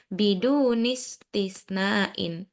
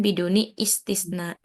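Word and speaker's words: بدون استثناء: he bidun biduntisain Oke ini bacanya dia tanpa Hamzah karena hamzatul wasal jadi bacanya bidunistisnaain bukan biduni istisn kadalika Ayo nahnu nutarjim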